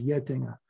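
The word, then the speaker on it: Getinge: he controls that he has another company called yetinga or getting up but it's pronounced yet dinger and it's a uh healthcare business but livko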